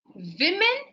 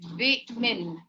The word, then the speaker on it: women: But when you say a plural women, so it has to be like vmen.